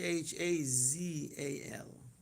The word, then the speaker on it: Chazal: the title of today the way we can pronounce kazal in English is c h a Z A L. Okay. So it sounds the way it sounds.